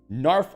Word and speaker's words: Knarf: Knarf Artanis. Narf Artanis. The K is silent.